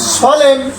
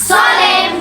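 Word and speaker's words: solemn: এল ই এন এন এল ই এন এন সলেম সলেম সলেম সলেম সলেম সলেম আমরা সলেম বলছি এর উচ্চারণ নেই এখানে এইচ ওয়াই এইচ ওয়াই সবাই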